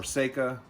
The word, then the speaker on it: Sako: or interchangeable bolt handles like a Sako. Um they or Seka, depends on how you say it or where you're from.